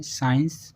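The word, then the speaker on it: science: Next rule है हमारा सी साइलेंट। सी साइलेंट कब रहता है? जब एस के बाद सी आता है तो हमेशा ही सी साइलेंट होता है।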